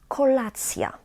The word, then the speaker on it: kolacja: So we actually pronounce the t, but it quickly gets softened, and we've got ja.